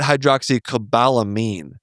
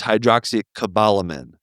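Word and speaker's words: hydroxocobalamin: It's not hydroxycobalamin. It's hydroxycobalamin. Yes. Which makes I feel like I've been saying that. To say not a min.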